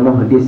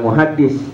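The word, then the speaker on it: مُحْدِث: Bedanya kalau junub dia wajib mandi, kalau muhdis itu belum wudu, ya belum punya wudu. Ini namanya muhdis. Bacanya jangan muhaddis. Kalau muhaddis nanti ahli hadis. Jadi kalau muhaddisun jamanya itu ahli hadis.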